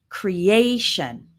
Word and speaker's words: creation: When you see T-I-O-N or a similar one, S-I-O-N, the stress is always on the syllable immediately before.